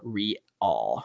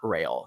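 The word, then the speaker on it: Rial: con attendees particularly minors by the way it's pronounced Mig na like lasagna and also Monica's last name is rail reall not rail just in case you wanted to get that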